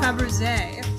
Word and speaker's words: Fabergé: Fabergé? Hold on. How do you act? What? Hold on. Fabergé. Is that actually how it's pronounced? I can spell it right. Fabergé. Pronunciation. Fabergé.